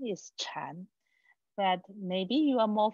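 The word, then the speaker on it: 禅: the objective of chan chan is a chinese pronunciation of meditation so in chinese we say meditation school okay our pronunciation is chan but maybe you are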